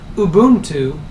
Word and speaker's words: Ubuntu: particular flavor or variety of Linux now interestingly Lubuntu and that is the proper pronunciation it's not a bun - it's not